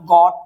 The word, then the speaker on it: gotta: Plus में ये दो वर्ड का शॉर्ट फॉर्म है गॉट टू का एंड गॉट अ का।